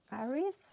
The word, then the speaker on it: Aries: And I have done aries. Iris, how it's pronounced in English.